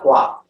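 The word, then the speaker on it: kua: this is called the gua a reverse direction um sometimes you'll see it's spelled k-u-a or q-u-a it's pronounced gua you say in the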